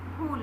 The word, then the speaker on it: फूल: तो फूल जब बोल रहे हैं तो ऊ का उच्चारण जब हम कर रहे हैं तो धीमे स्वर में नहीं कर रहे हैं, ऊंचे स्वर में कर रहे हैं, तेज कर रहे हैं, इसलिए यहाँ पे बड़ा ऊ लगेगा।